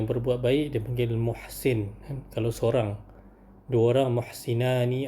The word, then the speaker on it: Muhsin: Sebut dia ni muhsin kan. M u h s i n. Sebab dalam bahasa Arab kita tulis mim ha sin nun kan.